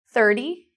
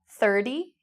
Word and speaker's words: thirty: finally thirty thirty so what was the difference in the three pronunciations between 30 30 30 if you said this you are correct one of the major differences you'll find in different Englishes is the way we pronounce T in British English a lot of the